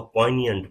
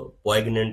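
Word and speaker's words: poignant: और ये जो लफज़ है ये जी जो है इसमें प्रोनाउंस नहीं किया जा सकता। इसको पोइनियंट पढ़ते हैं। ठीक है? तो इसको कोग्नेंट नहीं पढ़ते।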